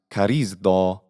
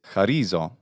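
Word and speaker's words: χαρίζω: So, in Attic, this is pronounced charizdo, whereas in modern Greek, it's charizo.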